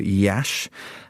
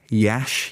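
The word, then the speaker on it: Iași: This is a report um of a city which I'm definitely going to pronounce incorrectly called Yash. Um, it's spelled I A SI. Yash. You heard me right.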